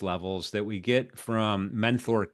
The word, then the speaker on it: Menthor: Menthor, not men, not not method, but menthor.